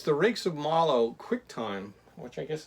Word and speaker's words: Mallow: So, Rakes of Mallow, that's how it's pronounced.